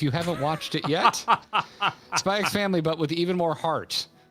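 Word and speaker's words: Spy × Family: We went on a proper Spy X Family binge. If you're new here, yes, I pronounced the X. No, I will not be correcting myself.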